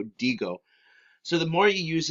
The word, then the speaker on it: digo: You can say it like yo dico. No, not yo dico. Yo digo.